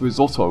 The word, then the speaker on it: risotto: calling it like that it's risotto like are you freaking mocking me it's an Italian word so you see Italian pronunciation A little bit of